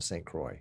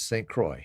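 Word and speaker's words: St. Croix: right John is in St Croy isn't that how it's pronounced St Croy like c r o y Croy like Roy did you really wear a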